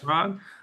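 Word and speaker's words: Chirag: pronounce his name wrong, but is it Shirag? Would that be Shirag, correct. Shirag? Okay, yeah.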